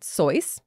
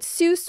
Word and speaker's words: Seuss: She pronounced it Seuss. She was German, after all. But Seuss was the pronunciation that stuck.